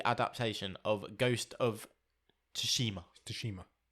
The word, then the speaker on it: Tsushima: Tsushima. That's how you pronounce it.